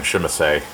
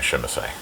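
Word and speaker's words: Tzimisce: a member of Clan Shimise. I refuse to pronounce it the way they do in this game. I'm sorry. It's Shimise to me.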